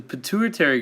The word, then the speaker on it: pituitary: response that creates the pituitary gland controls the secretion of hormones throughout the glands in the rest of the body to remember this think of the word maturity which rhymes with pituitary maturity happens when you